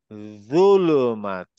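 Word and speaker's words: ظلمات: জুলুমা জুলুমা জুলুমা very good আবার আবার বলি জুলুমাত সবাই প্র্যাকটিস করে দানেশ প্র্যাকটিস করে ইভান ভাই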